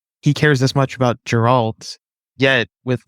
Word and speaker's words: Geralt: you care about the portrayal of, and you pronounced it correctly, I'm pretty sure, Gerald, is it? Geralt? Yeah. Geralt, and how we need to tell his story